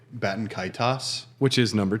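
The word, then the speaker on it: Baten Kaitos: There is no set way to say it, but I say Batankaitos.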